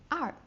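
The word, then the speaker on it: 二: Second the number two, but it's the fourth tone, which goes down uh like uh very quickly. Er.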